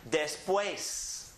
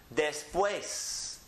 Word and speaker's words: después: Now this E has an accent on it, but who cares because it was strong anyhow. So it just makes it still strong. So the word is pronounced después. Después.